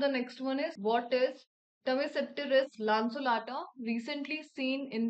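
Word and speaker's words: Tmesipteris lanceolata: सो the next one is, what is टमेसेप्टेरिस लांसुलाटा recently seen in the news. सो ये जो एक type की species है, प्रोनाउंसिएशन इसका क्या है, टमेसेप्टेरिस लांसुलाटा, और एक फॉक फर्न है ये।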